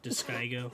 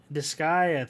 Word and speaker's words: Disgaea: whole like that character and then Dissidia or Diskygo, however you pronounce that shit. Wait, they have like a new mobile game. Diskygo? This whatever. Say what? Diskygo? Disgaea, thank you.